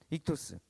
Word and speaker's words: 익투스: 글자를 따서 부천 오니까 이투스 라고 발음 하게 됩니다 익투스 초대교회 성도들이 당신 예수님